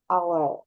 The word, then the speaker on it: hour: Nah ini kita contoh lihat silent H. Nah tadi nih ada ini apa jam? Tadi gimana bacanya? Hanya hilang Our. hour gitu ya.